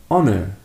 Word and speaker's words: honor: But we also have the silent h in words like honest. Honest and honor. Honor.